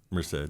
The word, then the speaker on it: Merced: Merced.